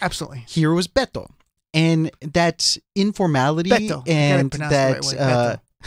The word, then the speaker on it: Beto: Beto ends in a vowel. So the emphasis goes on the second to the last syllable. So that means it's Beto, not Beto. So it's Beto.